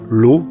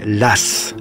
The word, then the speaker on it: Law: l'eau étale sa réussite précisons que les français de l'époque ne prononcent pas son nom l'au mais l'as comme si c'était de s en tout cas l'écossais